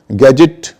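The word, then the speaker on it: gadget: तो लोग अमूमन डीजी के मामले में तो काफ़ी सही उच्चारण करते हैं, सिर्फ डीजी के मामले में गलत कर जाते हैं। गैजेट, आप जानती हैं मोबाइल वगैरह गैजेट कहा जाता है।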